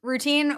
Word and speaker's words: Rootine: company name and the concept of routine it's spelled r o o t i n e it's one we want